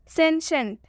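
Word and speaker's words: sentient: सेंशेंट, शेंशेंट में भी टी के बाद से आई ई आया है, इसलिए हम इसका भी उच्चारण तलाबे श से करेंगे।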